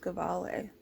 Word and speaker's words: Gevalia: few different ways but there's no accent on the eye so i don't think it's like an ear thing found it in gawali sweden i think it's pronounced govale but guess what i'm going